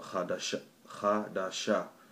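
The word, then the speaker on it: חדש: Chodesh or Chadash or Chadasha, or but it's pronounced Chadash.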